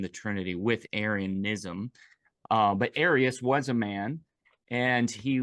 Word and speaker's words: Arius: Arius is the man whose teaching was under question